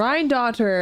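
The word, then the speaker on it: Rhinedottir: Rhine-daughter, that's how you say it.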